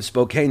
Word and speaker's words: Spokane: Eastern Washington yeah and they hate when you call it Spokane by the way it's